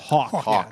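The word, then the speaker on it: Haack: So Matt Hack has done a solid job for a team that Hawk. I keep saying Hack. It's just how it's spelled.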